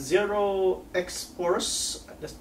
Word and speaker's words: Zeroxposur: Hairston brand name has zero X course that's how you pronounce it they've been making jackets